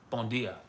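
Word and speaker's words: bom dia: That's one difference from Brazilian Portuguese and Portuguese is in Brazil all the D turns to G. Like my friends would say bon dia. Bon dia, bon dia.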